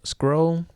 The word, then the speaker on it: SCRL: Another app I use is called Scroll. Well, it's spelled SCRL, and it helps you create collages for Instagram before you post.